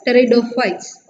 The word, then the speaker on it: pteridophytes: Okay, pteridophytes, that's the answer here. I already told you how to pronounce pteridophytes. Here p is silent and you have to start the pronunciation with T. So pteridophytes.